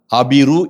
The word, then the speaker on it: அபிரு: சொல்வழக்கு வருவதற்கு காரணமாக இருந்தது அபிரு என்று நாம் தமிழிலே அழைக்கிறோம் ஆங்கிலத்திலே ஹபிரு என்று அழைக்கிறோம். இந்த ஹா என்பது தமிழிலே உச்சரிக்கிற போது ஆ என்று உச்சரிக்கப்படும். எனவே அபிருக்கள் என்று இவர்களை நாம் அழைக்கலாம்.